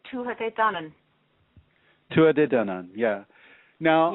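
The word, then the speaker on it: Tuatha Dé Danann: Well, different places pronounce it differently, but I would say the Tuatha De Danann.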